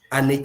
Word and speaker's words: Anike: Please permit me my pronunciation with uh Ani Foundation and Ani. It is an Foundation not an Foundation.